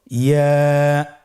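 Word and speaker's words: ياء: ইয়া হরফটি উচ্চারণের ক্ষেত্রে বারিক হবে এবং 1 আলিফ টেনে পড়তে হবে। ইয়া। আবার বলুন ইয়া। ইয়ার মাখরাজ কোন জায়গা থেকে উচ্চারিত হয়?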